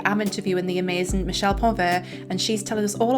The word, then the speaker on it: Ponvert: My name is Michelle Ponver. I know the French pronunciation is really tricky, so pont also works just fine.